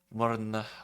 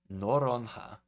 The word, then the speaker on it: Noronha: but It's sad to see such a beautiful place as Fernando de Morna. Wait, hold on. Noronha. I was mispronounced that one.